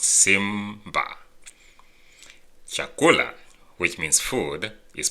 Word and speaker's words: Simba: Simba which is lion like Simba in the movie Lion King is pronounced Simba chakula which means food